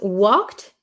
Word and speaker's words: walked: could you please pronounce walked it's it makes me difficult to pronounce it's difficult to pronounce right so this one in this word the L is silent we do not say the L okay and the last